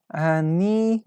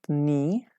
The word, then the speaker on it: knee: watch fell off my knee no not me me is not correct watch fell off my